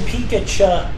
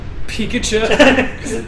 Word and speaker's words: Pikachu: holy say it right it's like if you called him pikacha Pikachu that sounds that's how it's spelled her did you see